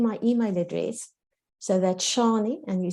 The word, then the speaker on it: Shanie: to give you my email address so that's shawnee and you spell it s-h-a-n-i-e at grow potential g-r-o without the